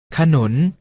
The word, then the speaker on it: ขนุน: เสียง ว่า ฉาก หลาม ขนุน ออก เสียง ว่า ขนน เมล็ด ออก เสียง ว่า